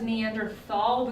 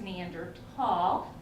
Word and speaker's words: Neanderthal: who's next Meander tall everyone says Neanderthal because of the spelling but the correct pronunciation is neander tall all right so we're